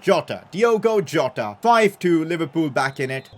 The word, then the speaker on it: Jota: now good ball inside Yoko Yota I'm sorry I keep mispronouncing him jota 5-2 Liverpool back in